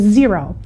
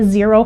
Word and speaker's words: Xero: fourth one I want to talk about is zero and zero is spelled x-e-r-o we do use zero a little